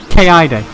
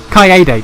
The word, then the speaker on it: Kaede: Kaide. Kaide. Fuck, I've already forgotten how it's actually pronounced. Kaede. There we go.